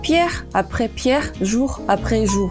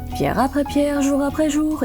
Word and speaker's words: Pierre après Pierre, jour après jour: 막 외우시고 그랬었는데 그 중에 진짜 힘들어 하시던 발음이 있었어요. Pierre après Pierre, jour après jour 이거였거든요. 근데 이게 멜로디가 Pierre après Pierre, jour après jour 이거예요.